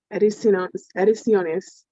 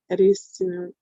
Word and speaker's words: Ediciones: I was doing Ediciones, like editions, Ediciones.